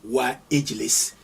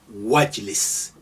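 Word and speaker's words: وَاجْلِسْ: You don't say wa Ijlis, you say Wajlis.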